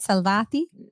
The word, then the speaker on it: Salvati: about your partner mik salvati is did I say it right salvati Perfecto oh beautiful I've been practicing